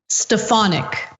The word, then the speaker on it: Stefanik: country ohay okay um quick correction because neither one of us knew the correct pronunciation of uh This Woman's name but our uh trusty programming director Judith wrote in and it's stefanic okay so in the